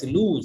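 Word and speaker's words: lose: Adjective অন্যদিকে এল এস লুজ এটার উচ্চারণ লস না এল এস লুজ এটা কিন্তু ভার আমাকে একটু জানাও এই শব্দটা নাউন কি?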